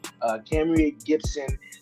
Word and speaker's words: Kamerie: I'm pronouncing her name right. Kamerie Gibson.